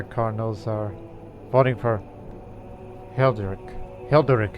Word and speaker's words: Hilderic: Hilderic is how you say his name.